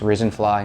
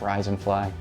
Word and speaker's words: Risen Fly: That's Risen Fly, not Rise and Fly. Some people mispronounce it. We'll correct that now.